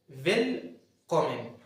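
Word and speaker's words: Willkommen: لغات العالم عندك برض فيلكمومن فيلكمومن فيل كومن فيل كومن الحرف الاولاني اسمه فمدينا صوت فيل فيلكومن دي معناها منور مرحبا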